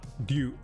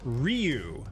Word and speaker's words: Ryu: Dya, dyu, dyo. Like the Street Fighter character. It's often anglicized as Ryu, but it's actually one syllable.